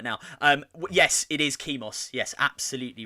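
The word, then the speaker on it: Chemos: it at first because i always want to call it chemis because i think chemist but it's not chemist it's kimos c-h-e-m-o-s we have a winner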